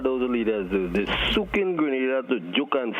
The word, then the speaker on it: Grenada: So, today, like we German say, we are in Granada. But I heard in English it's called Grenada.